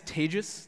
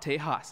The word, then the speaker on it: Tejas: was so lovingly introduced my name is Tagus that's pronounced like contagious in the English language which for those of you who aren't familiar with the Indian name that's a quick mnemonic for you and it is not Tejas I get that so